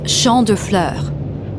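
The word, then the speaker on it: Champs de Fleurs: just like I imagin Champs de floors how do you say that it's Shand FL it means Field of Flowers this is the place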